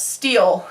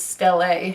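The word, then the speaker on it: stele: a that's how it's actually pronounced I always pronounce it as steel and then I watched the TV show and the movie and it's still a and everyone else says stelae everyone just pronounced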